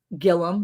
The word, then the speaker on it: Gilliam: Look, Johnny from Gilliam Farms is in here. Gilliam, not Gilliam, even though it's spelled that way. They just say it wrong in Oklahoma.